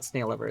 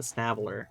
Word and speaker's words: Snailver: It's not snailover. It's snailer. I always say it wrong.